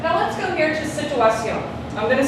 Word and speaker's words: situación: Or did she say situación? Situación. The emphasis is right there. Does that make sense? So is that the penultimate syllable or the last syllable?